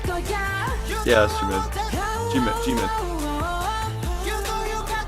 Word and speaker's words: Jimin: That's Jimmy, Yeah. correct? Say it right. 말을 안 해도 변해날 거야 너만 있다면 다내 집이 될 거야 Yeah, that's Jimin.